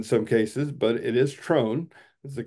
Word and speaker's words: TROHN: may have heard it be called Tron or Throne or Thorn In some cases but it is trone is the correct pronunciation um and what trone is is the